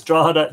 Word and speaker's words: Drogheda: Paul Garron says, Drogheda GH equals silent G like Garron.